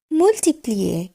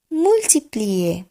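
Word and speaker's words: multiplié: গুণ চিহ্ন, সেটিকে বলবো মুলটিপ্লিয়ে মুলটিপ্লিয়ে।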